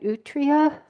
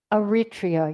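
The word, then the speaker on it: Eritrea: Utria in Africa. That little tiny country. What? Well, how do you say it? Aritria.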